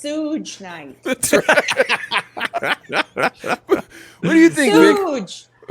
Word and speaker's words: Suge Knight: Like, It's pronounced Suge Night.